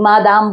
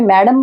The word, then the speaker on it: Madame: करके लिखा हुआ है क्योंकि फ्रेंच में MADAME होता है स्पेलिंग, मादाम बोलते हैं उसको, मादाम, मादाम मत्स्य। परंतु यहाँ इंग्लिश में मैडम बोलते हैं या मैम बोलते हैं, तो MONSIEUR।